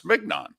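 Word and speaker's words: mignon: rather have a ribby I grew up pronouncing it filet mnan I was very impressed with myself when I was like a seven or eight years old that I knew how to pronounce filet but I took a look at it m g n o n oh it's mnan so my mother just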